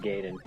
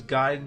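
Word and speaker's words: Gaiden: I think I always knew it was Giden because of Raphael Sai just noticing the AI. So I would always say say it like that. Giden little Japanese style.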